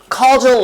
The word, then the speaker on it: causal: 선생님도 방금 발음을 잘못했었어요. 자, 다시 한번. 자, causal relationships.